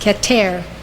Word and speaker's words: Keter: for spherote is called keter it's spelled k-e-t-e-r pronounced ketter it means crown as